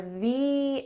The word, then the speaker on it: the: When there's a vowel, you should say th-ee, th-ee elephant, and when there's a consonant, you should say th-uh, th-uh light."